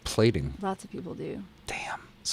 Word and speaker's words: Plating: I said platting instead of plating.